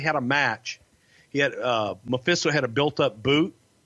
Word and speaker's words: Mephisto: The Great Memphicito. The Great Mephisto, Frankie Lane, man, he was a legend he's from your part of the woods in Alabama. Yeah, I just mispronounced the fuck out of it. My bad. That's okay. It's Great Mephisto.